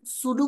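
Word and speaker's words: pseudo: আমরা সিলেক্টর দেখতে পাচ্ছি 5 প্রকার: simple selector, Combinator selector, সুডো class selector. এটার উচ্চারণটা কি করবেন? সুডো class.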